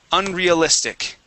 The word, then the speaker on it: unrealistic: It is unreal, unrealistic. Unrealistic. Yeah, so we want to use a long E sound there.